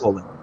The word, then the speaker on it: OLED: Yeah, it's OLED.